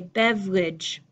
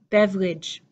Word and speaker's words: beverage: beverage would you like my word looks like it should have three bear village by village but I shortened this really tightly and I say beverage beverage remember that beverage is